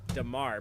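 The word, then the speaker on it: D'Marr: I hate his name because it's D''MARR, and you say it like Damar, but it's hard to...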